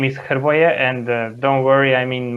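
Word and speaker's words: Hrvoje: play fpl yeah uh well my name is jervoya and don't worry i mean my name has been butchered in many countries all over the world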